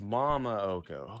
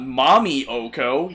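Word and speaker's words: Momma Occo: Oh, it's Mama Oko. Okay. Yeah, not Mommy Oko.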